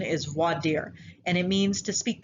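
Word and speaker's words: voir dire: listen to what's called vordyre now i say war dyer because i'm in texas um it's actually not pronounced vordyre the correct pronunciation is vadir and it means to speak the truth and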